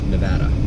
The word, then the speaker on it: Nevada: there Nevada Southern Nevada I was told it's pronounced like Nebraska Nevada it's just a matter of trying to remember